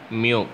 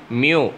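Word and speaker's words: μ: பை the Greek letter மியூ, pronounced as மியூ அப்படின்னு சொல்லுவோம். You letter மாதிரி இருக்கு இல்லையா, அதை யூன்னு படிக்கக்கூடாது, மியூ அப்படின்னு படிக்கணும், ரைட்டா.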